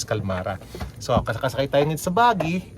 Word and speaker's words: Qalmara: p calmara so the right pronunciation is calmara so kasakay tayo sa bagi yan and tingnan natin yung mga rooms muna nila.